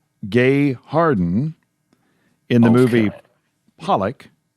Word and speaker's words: Pollock: It was It was um Marsha Gay Harden in the movie Pollock. Pollock, yep.